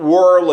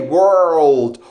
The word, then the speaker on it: world: top of the world not world please not whirl it it's pronounced this way world world how did he feel